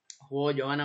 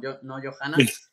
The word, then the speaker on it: Johanna: frente al Madrid jugó Johanna Gómez, que se pronuncia Johanna, no Johanna, que ya nos corrigieron, y hoy está Patricia Larqué de nuevo en la portería.